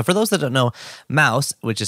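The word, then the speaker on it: Maus: i was asking uh why was the book mouse like why did it get banned thanks thank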